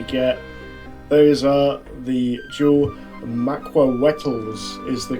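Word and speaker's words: macuahuitl: Those are the dual Maquawetals is the correct pronunciation, I'm told, but we're going to call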